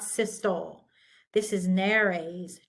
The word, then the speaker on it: nares: This is nares, 2, not nares.